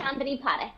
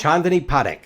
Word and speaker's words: Chandni Parekh: Chandni Parekh. Yes. Chandni Parekh. Okay, gotcha. The accent is on the first syllable.